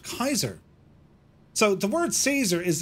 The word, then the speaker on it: Caesar: yeah yeah yeah incidentally Caesar would have been pronounced Kaiser so the word Caesar